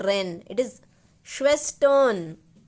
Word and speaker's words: Schwestern: Don't try to say Ren. It is not Ren. It is not Ren. It is Schwestern, Schwestern, on, O.